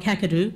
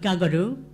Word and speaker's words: Kakadu: What that means is Kakadu is not Kakadu, but Gagadu.